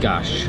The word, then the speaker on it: gás: So, in Portuguese, or at least in Portuguese Portuguese, the S is pronounced as sh. I made that mistake earlier by saying gas instead of gash as well in the drink.